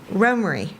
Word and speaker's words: Romare: I pronounce Bearden's first name Romare, which is what his family called him, and the pronunciation is derived from the Norman Swedish surname.